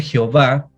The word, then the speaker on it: Jehová: Aparece Elohim, aparece Yahvé, nombres de Dios, Adonai, y también aparece Jehová, terminado con H, o Jehová con acento en la A, Jehová.